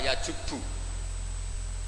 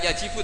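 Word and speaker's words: يَجُبُّ: Itu bacanya bukan yajibu tapi apa? Yajubu ayaktau.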